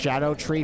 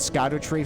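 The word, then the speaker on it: Scadutree: in its entirety got every because apparently it's pronounced Shadow tree fragment not Scot tree fragment which you know what makes sense I'll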